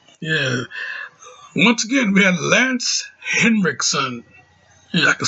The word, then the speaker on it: Lance Henriksen: we had uh yeah once again we had lance henriksen yeah i could say it right this time